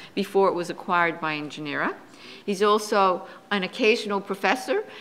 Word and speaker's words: nGenera: Don is chairman of nGenera Insight, for which he directs several of nGenera's, am I pronouncing it right? nGenera. It's little n, big G.